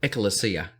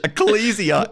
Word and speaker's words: Ecclesia: community the church or if you'd like to pronounce it in a different way there's only some people echolocia which is quite interesting Ecclesia is the actual way acalicia Ecclesia um so I was